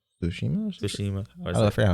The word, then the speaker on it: Tsushima: To go from Ghost of Tsushima, Tsushima. or is I it- forgot how you pronounce Tsushima.